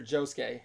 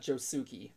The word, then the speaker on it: Josuke: like always silent it's the U is silent yeah it's like the fourth Jojo character josuke not Joe Souki Jessica Oh Sasuke Sasuke